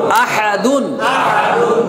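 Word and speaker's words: أَحَدٌ: উপর দুই পেশ দুন তাহলে উচ্চারণ কি হবে আহাদুন এখন দেখেন দুই পেশ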